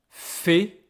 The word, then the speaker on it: fais: Je fais. Don't be mistaken, don't be fooled by all these letters. The pronunciation is just like this.